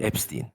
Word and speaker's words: Epstein: Epstein. Epstein. Epstein. Orijini büy Almancadan Epstein diye okunur ama şu an Amerika'da s ile okuyor kendi şeyleri. Evet. Steen olarak mesela Spielberg'e Spielberg demiyorlar.